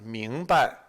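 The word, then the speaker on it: 明白: But just notice, when you say it as the word for white, it's second tone, 白. But when you say it in this expression, it is neutral tone. 明白, 明白.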